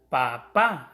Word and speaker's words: papá: palabras que suenan duro como por ejemplo papá ya veis que lleva el acento en la segunda así no lo lleva dice papá pero para decir papá éste lleva el acento en la segunda y eso da un sonido más fuerte para que la distinga